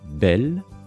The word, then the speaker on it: bel: Celui-ci se prononce alors aussi belle et s'écrit B-E-L.